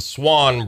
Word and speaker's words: Swon: some of them and it's the swan Brothers today which by the way is w n if you're going to